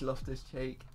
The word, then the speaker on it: Loftus-Cheek: It is Loftus-Cheek.